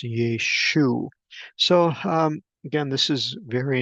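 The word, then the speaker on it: ܝܫܘܥ: letters in the Aramaic, although it is pronounced slightly different. We have the Sere under the Yod, but the Ayin does not have the um, excuse me, the patak underneath it. And so this would be pronounced Yeshu.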